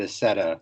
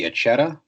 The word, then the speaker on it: Accetta: It is, so I pronounce it Accetta, but if you're going by the traditional Italian, I believe it's supposed to be Accetta with the two C's, like a ch sound, but ever since the